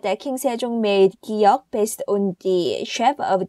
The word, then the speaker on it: 기역: 기역 is the sound between K and G. Sometimes you hear K and sometimes you hear G.